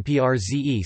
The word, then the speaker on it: prze: For example, the B in club, club, is pronounced like a P, and the RZ in PRZE sounds like SZ.